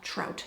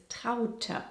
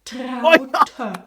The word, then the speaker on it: Traute: You'd pronounce that trout, Americans, wouldn't you? Elk, wolf, trout. Hey, soon we can open our own mispronounced German names zoo. Similar to Traute. Elke, the correct way of saying this is Traute.